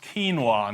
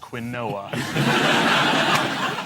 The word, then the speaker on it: quinoa: Pronounced quinoa, not quinoa.